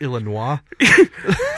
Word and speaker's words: Illinois: Illinois both of them it's pronounced Illinois so any that's what